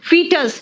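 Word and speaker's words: foetus: इसका प्रोनाउंसिएशन सुनना क्या है? इसका प्रोनाउंसिएशन है फीटस। अमेरिकन कहता है यार फी बोलते हैं तो FE लिखो ना, ये जबरदस्ती O कहां से ले आए हो?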